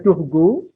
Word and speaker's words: Turgot: Brienne lalu dibaca Turgot, G ya, bukan je tapi G. Bacanya Turgot, kemudian dibaca Necker.